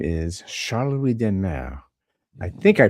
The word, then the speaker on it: de Maere: I mean, it's Demar. That's De how it's Maere. pronounced in Belgium, at least. But whenever I'm in France or Germany and so on, like people used to pronounce it Demar.